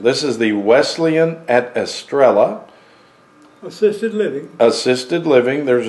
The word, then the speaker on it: Estrella: It'd be Estrella. Yeah, the L's would be silent. It wouldn't be like Amarillo, like Amarillo, which means yellow? Estrella. Not Australia, but Estrella.